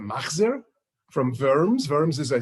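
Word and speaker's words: מחזור: The oldest Yiddish book on record is a Machzor, which in Yiddish is a Machzer, from Worms.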